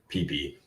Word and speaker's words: Phi Phi: area uh in co- PP Island it's spelled Phi Phi but they don't have the pH as an F sound so it's pronounced PP um that's uh very